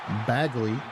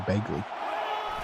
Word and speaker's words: Begley: Going to throw the one right one right out there as Baggley or Begley. Begley. I've been informed. I've been saying it wrong my whole life. It's actually Begley.